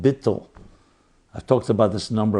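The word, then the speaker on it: ביטול: Hasidic literature is called bittle I've talked about this number of times bi T tul pronounced bittle so bittle means can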